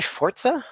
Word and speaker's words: Forza: We do have Forza, like you said, or Forza. Yep. Yeah, how do you say that? How do you say it? Forza or Forza? I say Forza.